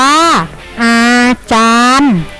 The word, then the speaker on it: อาจารย์: เหตุ ฟาร์ม ม.ค เอ่อ อาจารย์ อ่าน ว่า อาจารย์ แพทย์ อ่าน ว่า